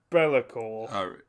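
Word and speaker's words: B'lakor: name yeah bailey core it's not got two apostrophes it's spelt b and then apostrophe l-a-k-o-r bellacor so yes uh the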